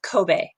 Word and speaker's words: Kobe: should tell you that in Japan we actually pronounce this Kobe so Kobe is a very beautiful